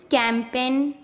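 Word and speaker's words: campaign: जब एन से पहले जी आता है तब हमेशा जी साइलेंट रहता है। जैसे design, resign, कैंपेन, norm, sign.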